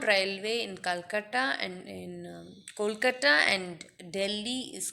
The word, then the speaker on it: Kolkata: in Calcutta and in Kolkata and Delhi is called Metro so the pronunciation is Kolkata I just said it wrong so sorry so the